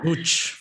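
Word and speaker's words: मूँछ: Mooch. So, yeah. Okay. Yeah. Did I say it right? Yeah, mooch.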